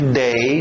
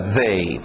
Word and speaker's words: they: O último, TH de Zorba, they. Nada de they, não, é o Zorba, they.